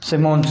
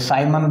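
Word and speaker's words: Symons: जैसे फर्स्ट अपन एक है, पहले इसको ले लेते हैं सिमॉन्स को, या साइमन बोल दो, सिमॉन्स बोल दो, जो आपकी श्रद्धा है वो आप इसको प्रोनाउंसिएशन कर सकते हैं।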